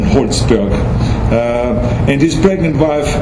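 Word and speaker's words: Holtzberg: included a rabbi Gabriel holzberg that's the way I pronounce it in German holsberg uh and his pregnant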